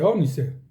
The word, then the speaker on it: ónice: Así dice, ónice. Acento en la O.